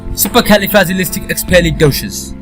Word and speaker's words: supercalifragilisticexpialidocious: expelling doshas so in a word it becomes supercalifragilistic expialidocious and I repeat that again and the correct pronunciation of this word is supercalifragilisticexpialidocious supercalifragilisticexpialidocious supercalifragilisticexpialidocious